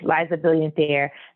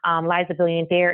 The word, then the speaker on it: Liza B'illiant Heir: And again, that's spelled Liza, Brilliant like brilliant without the R. So Billiant, and heir like heir to your throne or to your lineage, Heir.